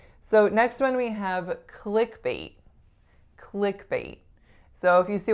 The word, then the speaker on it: clickbait: words click and bate the stress is on which part clickbait it's on the first part and the vowel is